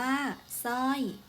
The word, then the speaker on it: สร้อย: หลาย คำ ตัว อย่าง เช่น สร้อย อ่าน ว่า สร้อย เสร็จ อ่าน ว่า เศษ สร้าง อ่าน ว่า สร้าง ข้อ สอบ ไอ เรา มา ดู อักษร ควบ ศ.